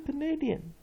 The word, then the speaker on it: Canadian: 重音在第 2 音节。所以 Canadian 这是加拿